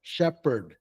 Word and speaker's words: shepherd: much closer okay so the way that we pronounce this would be sheeper shepherd shepherd okay so everybody try